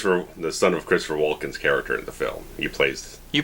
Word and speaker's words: Walken: the son of Christopher Walken's character in the film you plays you pronounce the L that's why I've always heard it you go for a walk outside okay I've never pronounced the